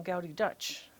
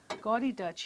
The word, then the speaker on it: Gaudy Dutch: of gouty Dutch here gy Dutch here or gouty Dutch is how the some people will pronounce it is really nice and some pieces better than others so look at the decorated handle and because it's so highly decorative they call it gudi gy or gouty Dutch and it's